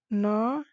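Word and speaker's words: Ntangki: नौटंकी, यहाँ जी साइलेंट है दोस्तों।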